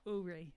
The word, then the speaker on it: Uri: Uri. Uri Well, is like O-O-R-E-E. It's the Hawaiian pronunciation.